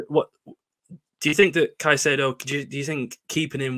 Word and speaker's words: Caicedo: But likes of Caicedo, like we said before, I said it wrong, Caicedo is the correct pronunciation.